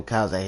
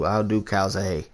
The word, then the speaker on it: Calzaghe: How do you pronounce his last name? Calzaghe? Joe Calzaghe.